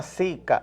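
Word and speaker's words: zika: información a los televidentes se llama sica Z i latina k a no ca ca Sí en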